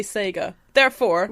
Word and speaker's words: Sega: think you'll find that that is an american pronunciation of sega the japanese would say sega there are four right